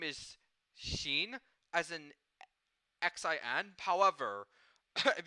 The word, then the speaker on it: Xin: So this boy's name is Xin, as in Xin. However, if you use the Taiwanese Romanization system, then it's spelled H-S-I-N instead of X-I-N. Mr. Shin.